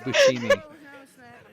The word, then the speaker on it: Buscemi: been pronouncing it wrong it is steve buscemi like the sh kind of i'm really dumb it's